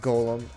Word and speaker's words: GAULEM: that much who surprised this ends up being pronounced Golem anyways on a side